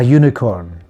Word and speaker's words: unicorn: It's important to remember here that sometimes a word is spelled with the letter U at the beginning, but the sound is actually a consonant. For example, a university, a useful device, a unicorn. The pronunciation of the letter U in these sounds is like the consonant Y, so we don't use an.